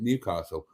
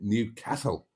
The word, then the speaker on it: Newcastle: Now, I would pronounce it Newcastle, but as I understand it, the locals would pronounce it Newcastle. Newcastle.